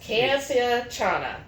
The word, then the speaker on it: campechana: I believe it's pronounced campechana. Yes, campechana.